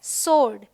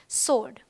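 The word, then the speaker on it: sword: है rule number three कुछ वर्ड्स में डब्लू साइलेंट होता है बिल्कुल कंप्लीट जैसे यह है होल यह है टू यह है सोर्ड यह है आंसर ऑल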